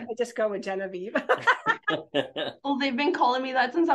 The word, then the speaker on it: Yenaiv: So, but the cute story is that she's always been called Genevieve, and her parents will sometimes say Yenaiv and or how do they say it?